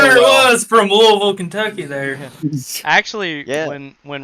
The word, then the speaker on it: Louisville: Whenever you pronounce Louisville as Louisville, it's Louisville.